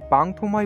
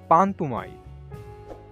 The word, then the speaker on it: পাংথুমাই: ঝর্ণা বলে পাংথুমাই গ্রামকে যদিও অনেকে পাংথুমাই বলে ডাকে কিন্তু এর সঠিক উচ্চারণ পান্থমাই